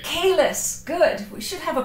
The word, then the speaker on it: Queylus: Quelus with a K. Quelus, good.